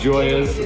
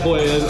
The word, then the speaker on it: Joya: else yeah so um it is definitely pronounced joyous um a lot of people have said Hoyas um Joya is actually amateur's mom's name we set out to